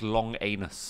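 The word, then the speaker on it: Langenus: called john langeness langness and he's pronounced long anus long anus sorry so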